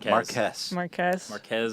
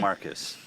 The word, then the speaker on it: Marques: Did I say it right? No, Marques. I always call you Marcus.